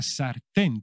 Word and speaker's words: sartén: es una sartén la sartén tío y cuidado que lleva acento en la e la sartén hay que